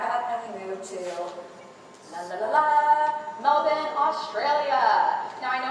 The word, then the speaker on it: Melbourne: Now, I know I sound like a little bit of a dork saying Melbourne, but I was schooled by my friends there that that's how you pronounce it, not Melbourne.